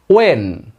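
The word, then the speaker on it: when: wife বাইরে থাকে এখানে যখন হোয়েন হোয়েন এর উচ্চারণ হনা বলে করার চেষ্টা করবেন করবে ওয়েন ওয়েন আমার wife my wife subject my wife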